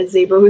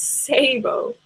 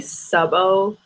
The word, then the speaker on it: Szabo: Yeah, Zabo is too hard. It's Sabo. It's actually Subbo, but my parents always pronounce it Sabo growing up.